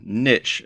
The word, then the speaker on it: niche: Choosing the right niche, or niche as some people pronounce it, for your membership site